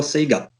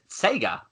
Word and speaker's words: Sega: Sega Master System sorry how do we pronounce it Sega or Seger oh okay Oh Sega obviously I know in Australia you guys are you pronounced an Seeger like a yes a what